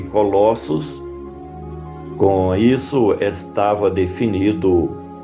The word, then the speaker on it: Colossos: que ree do Senhor para que o cumpras pronuncia-se Colossos com isso estava definido o destino da carta